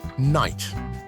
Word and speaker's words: night: Think about the word night. In Old English, it was pronounced with a hard K and a guttural geesh, much like it's spelled. Over time, as English pronunciation evolved, these harder sounds were softened, leading to the modern silent K and GH.